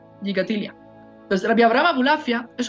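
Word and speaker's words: Gikatilla: Siempre hay un montón de discusiones o de diferencias de cómo se pronuncia este apellido. Gigatilia, Gigatilia. Ahí, bueno, yo así lo pronuncio, Gigatilia.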